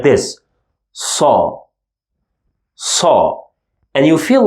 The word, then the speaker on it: ص: again the soft batter but this one is saw okay let's now concentrate on this group saw sound it's like the sound you make whenever you want someone to keep quiet right so okay I need